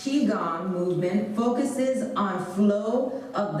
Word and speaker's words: Qigong: in the transition between poses and this one pronounced chi gong movement focuses on flow of the life energy